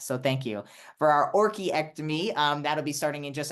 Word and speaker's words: orchiectomy: We will be having a breast augmentation and orchiectomy. Am I pronouncing that correct, Dr. Ronnie? It's actually orchiectomy.